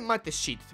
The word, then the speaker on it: Mateschitz: Red Bull, Dietrich Mateschitz, se dice Mateschitz, pero yo lo voy a pronunciar como si fuera austriaco.